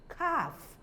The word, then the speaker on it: calf: longer asan almond almond the word calf the L is not pronounced so it takes a longer R sound calf likewise chalk likewise palm